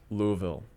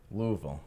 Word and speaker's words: Louisville: Seminary in Louisville Kentucky okay I and it's pronounced Louisville Louisville okay what's your degree uh master of okay